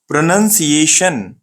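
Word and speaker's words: pronunciation: कैसा पढ़ना है, अपन कैसा पढ़ते हैं इसको, प्रोनंसिएशन। हम पढ़ते हैं प्रोनाउंसिएशन, अपन ऐसा पढ़ते, प्रो नॉन सिएशन। तो पढ़ना कैसा है अपने को वो सीखना है, ये है प्रोनंसिएशन। एग्जैक्टली जब भी आप मैं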